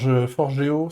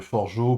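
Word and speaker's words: Forgejo: Euh, le gouvernement néerlandais s'est amusé à monter une plateforme basée sur, alors je sais, Forgeo, c'est ça? On ne prononce pas le J si j'ai bien compris.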